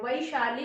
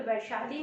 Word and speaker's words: वैशाली: है वो, वैशाली, वैशाली, क्योंकि उसमें आई की मात्रा है, वैशाली उसका सही उच्चारण है, सही प्रोनाउंसिएशन है, ठीक है, वैशाली नहीं।